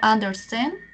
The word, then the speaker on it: understand: Y esos casos, no, en esos casos la pronunciación, por ejemplo, understand, ese empieza con una U. ¿Y cómo se pronuncia esa U? Como una A, understand.